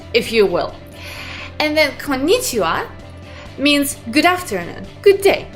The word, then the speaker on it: konnichiwa: what you hear kon nichi ah good afternoon konnichiwa good afternoon so let's look a little bit